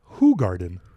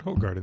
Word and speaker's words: Hoegaarden: says on the website as it's pronounced who Garden not whole garden is he who Guardian